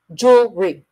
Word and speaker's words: jewelry: chocolate chocolate to okay if you learn it in a dictionary it'll say jewelry jewelry Jewel jewelry you the middle syllable is very short jewelry jewelry but conversational jewelry it's like two syllables jewry jeel jewelry okay so it's jewelry I love